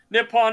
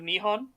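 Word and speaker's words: 日本: Nippon is actually a mispronunciation of Nihon.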